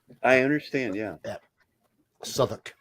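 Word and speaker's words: Southwark: probably say sou then yeah it is s suuk it's pronounced s just because it's in the UK if it was anywhere else I'd say southwalk yeah it's pronounced s I understand yeah yeah suoc it's a place in London okay well they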